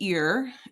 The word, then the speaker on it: ir: Numero synco of our seven um supersete right is ear. It sounds like ear and it's conjugated to boy like boy versus girl.